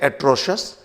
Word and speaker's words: atrocious: तो इस तरीके से एट्रोशस, आपने सही प्रोनाउंसिएशन के बारे में जाना कि जब कभी भी टी, एक्स, सी या जी के बाद आई ओ यू एस हो तो इस आई का प्रोनाउंसिएशन नहीं किया जाता।